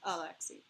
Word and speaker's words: Alexei: Like, the name Alexis is pronounced Alexei.